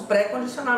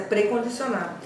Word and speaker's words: precondicionar: Eu ouço pré-condicionar, mas é precondicionar. Enfim, então é muito difícil você perceber quando é que aquele pré é tônico e quando é que é um pré-átono, porque as pessoas não